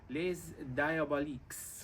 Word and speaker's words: Les Diaboliques: How do you pronounce that? Les Diaboliques. Les Les Diaboliques.